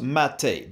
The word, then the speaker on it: MATE: is written mate but it's pronounced mate because it derives its name from a tea-like beverage it was created in